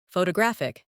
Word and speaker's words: photographic: Some words are pronounced with extra emphasis on one part. For example, photograph, photographer, and photographic. The stress moves and that changes the sound.